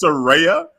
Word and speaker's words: Saraya: the gist of it it's Soraya yes phonetically it's like you're saying sir and then Rey like Rey Mysterio and then yeah brother